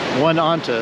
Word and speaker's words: Oneonta: Gorge now let's see are you trying to pronounce it huh well Oneonta is what I'm going with and I'm sticking with it neat area we don't